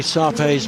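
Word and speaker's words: Shar Pei: days one of the surveys most distinctive features a truly grisly feel to that coat and it is pronounced survey the H is silent at least that's what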